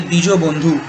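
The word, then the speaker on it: द्विजबन्धु: worker class, and the Dvija Bandhu. Dvija Bandhu refers or I would pronounce it in the Bengali way, that is the DJ Bandhu, or the Dijo Bandhu, refers to those who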